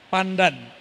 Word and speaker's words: Pandanaran: Santri Quran tamatan Sunan Pandanaran. Begitu bacanya Kiai. Benar, sahih. Pandanaran.